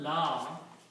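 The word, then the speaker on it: لا: So this alif should be pronounced with a m. Okay. Okay. Now if you notice that as I said this mud here is requiring then you pronounce law instead of la.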